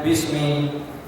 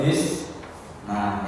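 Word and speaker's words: بِسْمِ: Kok bacanya Bismi bukan Bismu atau Bisma ya kan? Kenapa? Karena pemasukan bi, makanya sesudahnya dibaca Ismi.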